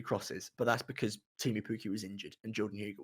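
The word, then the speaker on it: Teemu Pukki: The point is he was flinging crosses at Timu Pukki, right? Yeah. Or Timu Pukki, if I'm going to be a pronunciation guy.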